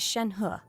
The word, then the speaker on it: Shen He: I think every character that pronounces her name says it's so funny. I feel like that's not how you say it. And huh. Every character like puts way too much emphasis on the huh, I feel like.